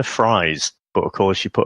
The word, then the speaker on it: Fries: they changed his name I'm gonna say how is spelled first it was dr. Victor fries but of course she put a bit of a German accent there and it's dr. Victor fries so basically from his